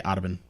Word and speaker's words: Audubon: Spelled like Autobahn, but they say Audubon.